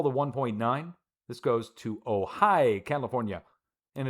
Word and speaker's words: Ojai: This goes to Ojai, California. And it's spelled O-J-A-I.